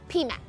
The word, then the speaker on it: PMAP: media Excellence by the pmap or the people Management Association of the Philippines sorry I pronounced it wrong it's pmap so the makata awards